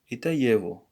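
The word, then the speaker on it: его: listen to the native so it's going to be pronounced as ye even this is good why because of the morphology duration of food but what we we see here is that yevo this is his we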